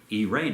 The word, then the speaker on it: Irene: And to mark this, we have the figure of Irene, or Irene, if you want to use the Greek pronunciation there, with a dove and an olive branch.